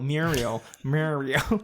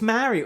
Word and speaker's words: Mariel: Muriel. Muriel. It's like she's keeping a Muriel's wedding when she said it was like, "I'm Muriel." Muriel. Mur- It's Mariel. It's spelled Mariel.